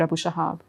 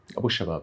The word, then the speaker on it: Abu Shabab: Please excuse me if I'm not pronouncing it correctly. And then there's the Popular Forces led by Yasser Abu Shahab. Abu Shabab, yes.